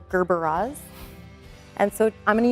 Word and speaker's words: Gerberas: So we'll do that maybe with our Gerber daisies. People constantly mispronounce them as Gerber. They're Gerberas.